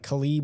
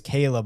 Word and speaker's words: Caleb: McAfee the other day trying to pronounce Caleb Williams. He was like, "Khibb Williams." And then Pat McAfei's like who? He's like Khalib. And he's like, "His name is Caleb Mike."